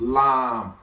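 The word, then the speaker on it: لام: It's called lamb. And this lam now is just L. It's something that is easy to pronounce, and it has English equivalent, which is what? Which is L.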